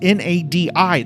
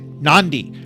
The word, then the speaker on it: Nadi: So most humans they're going to pronounce n a d i. They're going to pronounce it nadi like like naughty. Naughty. No. How do they pronounce it? Nandi.